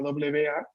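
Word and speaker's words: は: Solo que tal cual les comenté, ha, cuando está en función partícula, se pronuncia wa.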